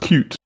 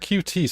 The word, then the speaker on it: Qt: It's supposed to be pronounced cute, which is indeed cute. Yes, cute. But QT sounds nicer.